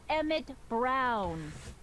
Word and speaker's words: Emmett Brown: kill me now that's emmett brown rhymes with clown which i'm beginning to